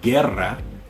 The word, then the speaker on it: guerra: If you see a word that begins with G-U-E, G-U-I, then the U is silent, but you pronounce the G like you normally would in English. So like guerra, guisar, there you go.